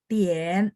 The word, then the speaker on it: 点: Terus kalau misalnya Tien juga sama ya, IAN. Jadi A-nya jadi agak Tien. 点 Tien ada 3 ya.